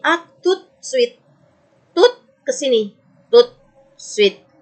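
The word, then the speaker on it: à tout de suite: Kalau satu-satu a, tu, de, suite. Kalau pelan-pelan. A, tu, de, suite. Sambung bacanya jadi a tout suite.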